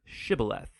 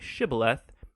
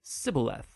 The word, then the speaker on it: shibboleth: and asked everybody who wanted to cross to pronounce the hebrew word shibboleth it turned out that the ephraimites had grown up pronouncing that word differently so instead of saying shibboleth they would say sybileth when that happened the gilinite guard would execute